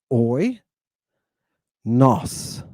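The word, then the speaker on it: οἶνος: 2 syllables. Oi, nos. Oi, nos.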